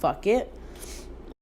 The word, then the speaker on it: FUQIT: Then there's Breaking the Binary, and then there's Eucalyptus, and then there is FUQIT, which is pronounced fuck it.